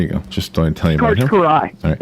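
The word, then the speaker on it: Kiraly: Jordan of pro beach volleyball it's it's it's Karai is that how you say it K Karai Karai okay yeah yeah C Karai k i r a l y so there you go just tell you Karai it's it's pronounced K yeah the oldest flight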